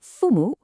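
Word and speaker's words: 父母: So, first up we have fumo, pronounced fumu.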